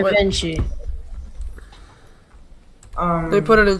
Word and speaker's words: Givenchy: It's Let me pronounced Givenchy. wait. Givenchy.